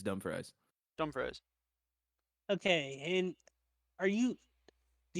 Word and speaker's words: Dumfries: DUMFRIES.